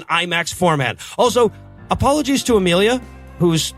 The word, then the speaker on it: Amelia: Also, apologies to Amelia, whose name I pronounced as Emily last week because it's spelled weird, or actually